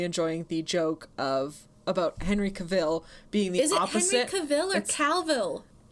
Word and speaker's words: Cavill: properly pronounce my name it's caval rhymes of travel that rhymes with travel exactly is pronounced like travel travel nick's right yeah